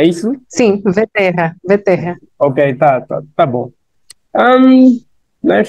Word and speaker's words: Vterra: Agora, o sobrenome é Vetera, não sei se está a pronunciar bem. É isso? Sim, Veterra, Veterra.